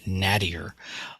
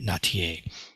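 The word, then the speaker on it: Nattier: too so I would I would pronounce her name as nadir but she actually goes by natier Jen natier and that's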